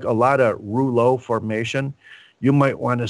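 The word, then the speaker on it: rouleaux: coins and that's called Ru with the silent X French pronunciation formation Rulo formation and the reason why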